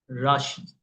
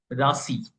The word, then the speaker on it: Rashi: I'll call it Rashi. R A S I okay to be more accurate in terms of Sanskrit terms Rashi okay can be pronounced at rashi all right which are